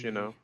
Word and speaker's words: Huawei: considering that when you look at the word, that is totally not, how one would pronounce it. Right. Of course, in the native language, Hawaii Yeah.